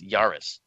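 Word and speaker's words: Jahreiß: I and then the beta symbol but it's pronounced Yaris now a German friend of mine confirmed that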